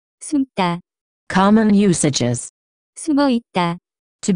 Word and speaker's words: 숨다: The pronunciation of this word is closer to. 숨다.